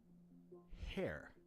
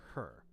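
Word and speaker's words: Herr: by the name of Samuel hair or her depending on who's telling the story it's spelled h e r r but Samuel her hair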